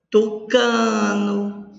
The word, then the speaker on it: tucano: Tucano, o cá é a sílaba tônica.